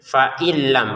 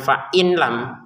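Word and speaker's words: فَإِن لَّمْ: Nah, di sini ini langsung ke fa ya jangan fa janganam yusib nun sukun bertemu lam bacanya dimasukin nunnya ke lam tanpa dengungan jadi cara bacanya faillam bukan fain lam kalau tulisannya fain lam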